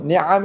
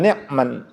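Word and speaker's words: نِعَم: niamahu Niam itu itu bentuk jamak dari Nikmah itu kadang-kadang ada itu di luar sana ya Imam itu dibacanya Hamda yuwafi nikmahu itu salah ya bukan Nik bukan nikman bukan nikman jamak dari Nikmah nikmatun itu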